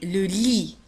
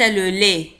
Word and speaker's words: lit: salle de bain السرير le lit وليس le lait le lit un lit le lit